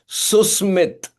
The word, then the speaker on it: Susmit: For everybody else, for the world to know, his name does not have the sh sound. It has the s sound. Susar with this.